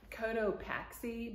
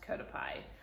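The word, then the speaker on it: Cotopaxi: pie the brand name is it looks like Coto paxi but it's pronounced kotap pie I've seen a few people in my city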